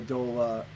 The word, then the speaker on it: doula: And in a very similar way, that's how I was feeling about a doula. Doula. Is it doula or doula? Yeah. Or it's pronounced doula, I believe, as in like to duel.